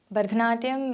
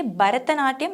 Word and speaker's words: Bharatanatyam: areas is so different because in the language of Tamil, there is no ha, so we say Bharatanatyam instead of Bharatanatyam or Bharatnatyam, which is a very common